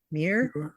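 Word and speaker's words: Muir: different different guy John Mir I don't even know how to pronounce that muui R is that M Mir yeah M yeah um he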